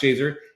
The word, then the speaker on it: Shazer: to the valley of Shazer now Shazer is an there's an Arabic word that's pronounced Shazer it's you know transliterated more like this shazar shazar but it's pronounced Shazer it means clump of